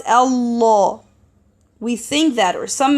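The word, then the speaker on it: الله: Lamb, normal lamb, is not heavy, and the name of Allah should be heavy in special cases, as mentioned in the previous video.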